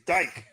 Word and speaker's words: Van Dyck: It's Dyke. Well, it says Dick. D-Y-C-K. No, it's pronounced Dyke. Van Dyke.